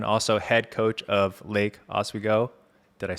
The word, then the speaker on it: Oswego: We have a special guest today, Marshall Cho, coming all the way from Portland, Oregon, also head coach of Lake Oswego.